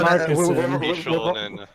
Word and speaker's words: Marcassin: That's It's kind of pronounced Shonen, Marcusson.